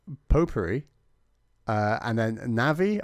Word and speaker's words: Navi: potpourri uh and then navi i used to pronounce it navy but this was obviously incorrect and has since been